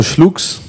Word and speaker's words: Schluck: Un jour, j'ai bu de nombreux schlucks. Schlucks. Schluck. Ah ouais, on prononce pas le S.